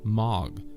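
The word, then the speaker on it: מג: Another letter down, and there is the Hebrew characters as shown here, phonetically pronounced as Mag, which translates as magician, Majus.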